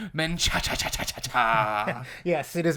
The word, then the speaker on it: Menchaca: none other than Lewis and I believe I'm pronouncing this right menaa yes it is menaa there you go uh yeah you can call